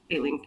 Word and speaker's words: Aelin: It's Aelin. If it makes you feel better, my first pronunciation was also Elide.